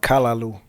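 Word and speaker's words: callaloo: It's called kalaloo.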